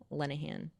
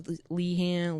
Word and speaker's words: Lenahan: On Instagram, Lenahan, Lenahan. People can't spell my last name. And on Twitter, it's Lenahan. Lend a hand without the D's is an easy way.